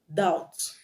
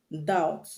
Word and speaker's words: doubt: end of a word when you have b t at the end of a word then the b will always be silent example death d e